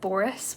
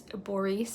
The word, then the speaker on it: Boris: we also have borice it looks like Boris when you read it but it's borice is how it's pronounced Natasha is the young